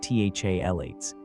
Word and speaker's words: phthalates: Most commercial air fresheners, whether they're sprays, plug-ins, or those little gel cans, contain a cocktail of chemicals called phthalates, pronounced THALates.